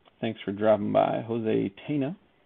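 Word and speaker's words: Tena: for dropping by jose tina i call him tina because there's no little squiggly over the inn all right let's see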